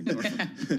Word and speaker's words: Norfolk: Yeah, Norfolk. so he... Yeah. Pronounce it correctly, Norfolk.